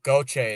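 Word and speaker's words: Gauthier: Oh, gochay is how you say it.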